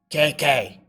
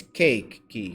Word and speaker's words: KK: It's not KK. It is not Kiki. It's Keiki, like cake that you eat, key that you turn.